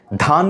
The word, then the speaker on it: ধান: অনেক ধাপ এগিয়ে যাবেন ধান ক্ষেত উচ্চারণ করতে গিয়ে আবার দান ক্ষেত বলে অনেকে অর্থাৎ ধ এর উচ্চারণ সে ঠিকঠাক ভাবে করছে না বলছে দক্ষ ক্ষেত উচ্চারণ